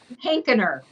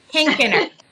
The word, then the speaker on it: Hankener: So you can kind of say Hank and then just add that Kenner on the end.